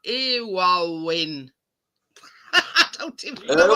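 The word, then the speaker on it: Éowyn: It's like Irwin. I don't even know how you pronounce it. Storm Irwin, wasn't it? I don't know. It's spelt with an E and then like Owen. Yeah. Owyn.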